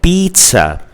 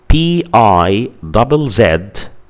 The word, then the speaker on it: pizza: Another word like pizza. Pizza. So in this word, the letter I represents the sound E or is represented by the sound E. So the word pizza is spelled PIZZA.